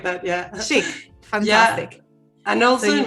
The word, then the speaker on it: Chic: I want to pronounce it correctly. Yeah, exactly like that. Yeah. Chic.